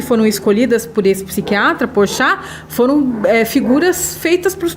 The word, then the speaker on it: Porchat: Porchat, é o método Porchat. Mas não é o Porchat, o humorista, não. Humorista, se escreve P-O-R-S-C-H-A e C-H no final, uma coisa assim.